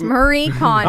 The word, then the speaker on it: Marie Kondo: Is it No, it's Marie Kondo. Oh, we both got it wrong. Oh, Marie, is it condo? Yes, Like the place you live? but spelled with a K.